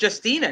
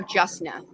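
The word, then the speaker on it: Justyna: Her family calls her Justna. Oh, really? Yeah, like just YNA, Justna.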